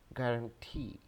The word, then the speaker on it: guarantee: The correct pronunciation of this word is guarantee, guarantee, guarantee.